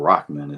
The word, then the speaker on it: Rahman: And SBP fam, Rock Daddy, aka Lil Rock, aka Ahmed Rahman, or Rockman is actually how you're supposed to pronounce it.